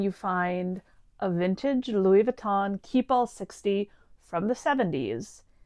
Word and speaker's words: Vuitton: And yes, I know it's pronounced Vuitton, but I'm not French.